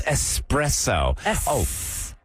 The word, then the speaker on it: espresso: no there's no X there's no X it's espresso I got you the